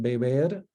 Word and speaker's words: beber: It's the same sound that you have, for example, in Spanish in beber, not the initial B, but the intervocalic B is pronounced more like halfway to a V.